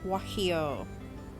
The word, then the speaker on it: Guajillo: It is spelled Guajillo, pronounced Guajillo.